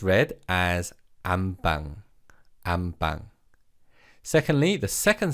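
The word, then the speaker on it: 안방: syllable changes to beam so it's read as am bang bang secondly the second syllable pang is pronounced as bang so rather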